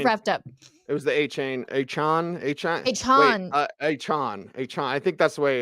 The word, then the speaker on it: Achane: It was the Achane. I think that's the way. It's like 4chan, Achane. Yeah. Is the way he pronounces it. I say Achane because it sounds great,